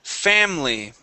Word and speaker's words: family: Okay, let's go to the word family. All right. So with this word here, we're going to skip over that I. Okay. Okay. All right. We say Family.